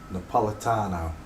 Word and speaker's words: Napolitano: don't I downloads desktop Georgia where are you Napolitano that's how you say it uh By Request by re-quest Giorgio napolitanio there you go well done no posts there